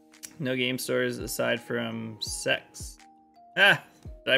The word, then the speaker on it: CeX: game stores aside from sex ah did I pronounce it right is it pronounced sex as I say it I hope so I hope that's actually how it's pronounced they were two separate